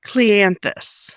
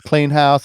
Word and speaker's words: Cleanthous: Most people think it's Clean House or Cleant House or Clean the House or whatever you want to call it.